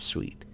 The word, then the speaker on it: suite: that with the Raindrop Suite or yes is this do you pronounce it sweet or suit I can't remember s UI t e uh s Sweet yes thank you so